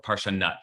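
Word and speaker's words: פרשנות: It's called Parshanut or Parshanut, actually, as is the way it's usually pronounced. I mean, the people usually pronounce it.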